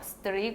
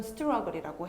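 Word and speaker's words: struggle: 이거를 str러 스트리 막 이러는 거예요. 그래서 이건 스트라글이라고 해.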